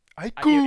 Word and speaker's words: Ike: it's Aikuru. You're right. You're right. Aiku, not aikuru.